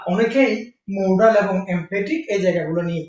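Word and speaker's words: modal: মোডাল বানানটা খেয়াল করেন, এম ও ডি এল, নট মডেল। এম ও ডি ই এল, নয়, মোডাল।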